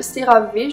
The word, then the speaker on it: CeraVe: Il y a aussi cette crème hydratante, baume hydratant de CeraVe, c'est comme ça qu'on le prononce.